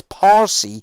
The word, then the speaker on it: Parsi: and by the way the language isn't even called farsi the arabs named it farsi it's parsi but arabs can't pronounce peas that's why they keep say busy that's why they changed it to farsi and they started to call it farsi because it's because it's what arabs can pronounce the arabs don't have a p in their language uh but it's parsi it's parsion it's persian it's the language that they